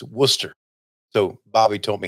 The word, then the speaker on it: Worcester: I put in the teleprompter copy, W-U-S-S-T-E-R. So I would say it right. It's Worcester.